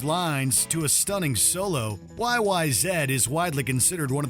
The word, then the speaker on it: YYZ: Russia's near impossible instrumental YYZ and yes it's pronounced Zed the title refers to